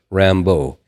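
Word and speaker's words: Rimbaud: it's our imba ud in that pronunciation in France French is Rambo and I'm wondering whether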